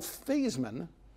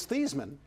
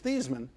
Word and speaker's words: Theismann: and that's an exponential his family name is thiis Minh what he is for